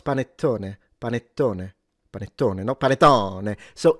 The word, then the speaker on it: panettone: No, it's panettone.